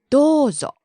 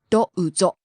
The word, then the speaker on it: どうぞ: It has a long O vowel. どうぞ It's not どうぞ but it's どうぞ You hold the vowel.